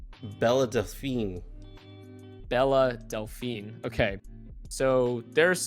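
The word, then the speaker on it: Belle Delphine: How do you pronounce her name? Bella Delphine.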